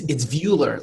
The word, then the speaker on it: Vuulr: No, it's Vuller, like viewing.